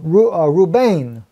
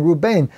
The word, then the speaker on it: Reuben: very name means behold a son okay Reuben roo-roo Bain is how you actually pronounce his name Reuben and that's interesting because all the time when